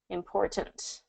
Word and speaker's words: important: What's interesting is I do put my mouth in position for the T, I just don't release it all the time in connected speech. When I'm being more precise in my pronunciation, I say important, okay? And I get those T's in there.